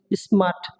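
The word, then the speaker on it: smart: আর এরপরে কি আছে টি আছে, এজন্য উচ্চারণ কি হবে না, আর এর উচ্চারণ হবে না, কি হবে স্মার্ট, স্মার্ট, স্মার্ট। ওকে, এখানে আর এর উচ্চারণ হবে না।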